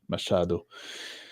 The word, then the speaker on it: Machado: Some say the CH is pronounced as in S and as in mash. Machado.